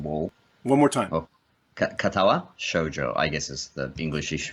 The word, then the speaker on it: Katawa Shoujo: How do you say Katawa Shoujo?